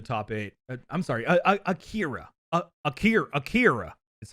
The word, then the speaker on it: Akira: we say it here oh it's yeah it's it's like you say an r sound but you don't put your tongue in the same place that you would for the english one yeah it sounds more like a d when it's pronounced by